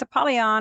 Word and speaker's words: Apollyon: And he wanted to make sure that we knew exactly how to pronounce this in the Hebrew. And it is Apollyon, and it does mean destroyer.